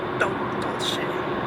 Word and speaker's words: dolce: Chavo_134, aka Joel's brother, recommended a vanilla bean frap with 3 pumps of cinnamon dolce.